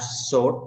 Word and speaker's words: sword: They have sword. Sword là kiếm nha con. Sword. Không có đọc chữ W, không phải sword.